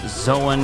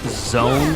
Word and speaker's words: Zoan: of us do, but why do so many of them pronounce Zoan as zone, as if that word doesn't have an A in it? I don't know. They probably think that just because it's spelled the same way you would pronounce the word lone or Joan, then they just think it's called that. But it's Zoan. It's not zone.